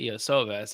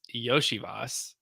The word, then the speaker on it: Iosivas: I thought it was Andre Iosivas. It's Yoshivas. I learned that this weekend.